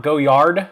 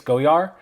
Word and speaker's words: Goyard: The Goyard is not Goyard. They don't pronounce the D. It's Goyard.